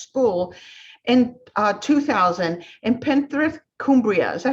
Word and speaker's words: Cumbria: opened her first school in 2000 in Penrith, Cumbria. Is that how you pronounce it, Denise? Yeah, Cumbria, perfect.